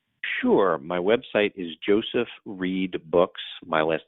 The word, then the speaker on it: Reid: but I love that your last name is read but not spelled like read I'm a nobody I'm